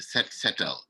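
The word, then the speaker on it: Set Setal: we had a movement in senegal called the set settle which is spelled s e t like i said s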